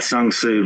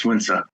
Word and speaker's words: Sun Tzu: It's not Sun Tzu, by the way. His name is pronounced Sun Tzu.